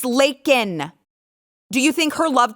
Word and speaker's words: Laken: say her name Joe it isn't Lincoln Riley you old incoherent defecating in your diaper babbling drooling idiot it's Laken do you think her